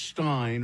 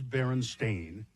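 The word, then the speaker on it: Berenstain: For instance, the Baron Stain Bears book being spelled and pronounced Stein or not Stain as the publishers claim, but but it is Baron Stain as he but many people remember it as Stein or Stein.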